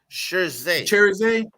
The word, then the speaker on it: Cherizier: I mean, so we're talking about Jimmy, a barbecue, Cherizier, I think is how you say his name. Am I saying that right? Cherizier. Cherizier. Yes, sir.